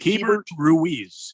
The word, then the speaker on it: Keibert Ruiz: A man card salute and pour a little bit out for Keibert Ruiz from the Washington Nationals. Did I say his name right? Is it Keibert Ruiz?